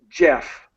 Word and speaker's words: Geoff: And so in terms of the North American pronunciation, it's exactly the same as the American spelling.